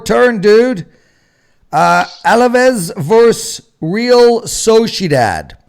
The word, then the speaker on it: Sociedad: Alaves versus Real Sociedad. How was my pronunciation, Nick? Oh, You got to, well, the Spanish ending would be Dodd. instead of dad. You got to have the Dodd.